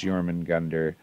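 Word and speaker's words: Jörmungandr: Jormungandr is Jormungandr. Asgard is Asgarder. These are just the correct Old Norse pronunciation.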